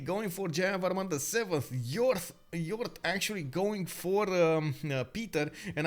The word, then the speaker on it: yaourt: Yaourt. Yaourt. Yaourt. Ah, okay. Can you imagine? I have been pronouncing it strangely from the beginning.